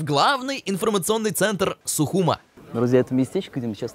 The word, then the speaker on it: Сухум: до столицы абхазии города сухум именно так правильно говорить не сухуми а сухум это географический центр страны протяженность